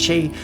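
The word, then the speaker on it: sidhe: dreaming and yes I know s is actually pronounced shade but that's kind of the point there's a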